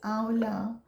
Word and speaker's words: amla: here it's spelt amla but we call it's pronounced as aola so that's the main ingredient and i actually